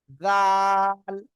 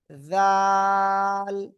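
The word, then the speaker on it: ذال: জিহ্বার আগায়, ওই দুই দাঁতের আগায় লাগান, লাগান, লাগান।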